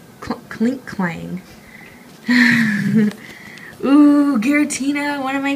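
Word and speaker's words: Klinklang: How do you pronounce that? Click Clang? Clink Clang.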